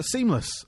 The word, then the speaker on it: SeamlessR: So, uh, seamless, um, or seamless R, but I understand that the R is silent.